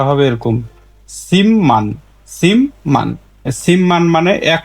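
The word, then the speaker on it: 십만: এটা উচ্চারণ হবে হামনিদা আরেকটি দেখি এর স্বাভাবিক উচ্চারণ কি সিমান সিপমান কিন্তু এর সঠিক উচ্চারণ হচ্ছে সিমমান সিমমান বাদমে বিউপ পাইছি তাহলে বিউপের পরে মিউম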